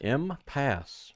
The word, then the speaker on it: impasse: that the parties have reached, how do you pronounce that word? I don't want to sound stupid, but I'm going to anyways. Impasse. Impasse, really?